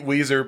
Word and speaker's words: Ouiser: If it's not Weezer, I don't want to talk about it.